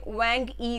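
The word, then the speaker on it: Huang He: valley of his island wang e river h is silent again wang e river as per chinese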